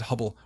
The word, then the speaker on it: Hubble: coincidence of course that Hubble rhymes with trouble rather pleasing a little